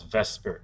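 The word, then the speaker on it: VSEPR: abbreviated via cpr and usually pronounced as vesper so you say vesper theory and this theory is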